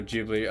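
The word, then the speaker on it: Ghibli: aren't as familiar with like gibli or jibli like I don't know people pronounce it different ways uh you can it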